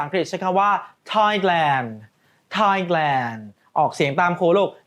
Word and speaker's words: Thailand: ประเทศ ไทย ภาษา อังกฤษ ใช้ คำ ว่า Thailand Thailand ออก เสียง ตาม ครู ลูก ไน Thailand นะ